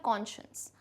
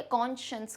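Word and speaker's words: conscience: अब इसमें वर्ड आता है साइंस, लेकिन इसे प्रोनाउंस हम कैसे करते हैं, कॉन्शियंस, ठीक है, कॉन्शियंस करके प्रोनाउंस करते हैं।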